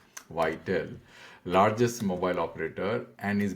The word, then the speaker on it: Viettel: And he talks about this operator of Vietnam, which is the largest mobile operator, which is, I think, pronounced as Viettel. Viettel, largest mobile operator, and is building a 5G network based on its own technology along with critical components from Qualcomm.